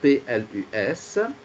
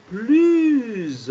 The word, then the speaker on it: plus: Donc, tu vois, le premier PLUS, le S est prononcé comme la lettre Z.